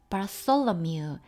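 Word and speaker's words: Bartholomew: 바솔로뮤, 이 발음이 어렵죠. 고맙다, thanks 할 때 그 무성음이고요.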